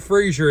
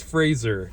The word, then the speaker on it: Fraser: It's not Fraser, it's Fraser. That's how you're supposed to pronounce his name.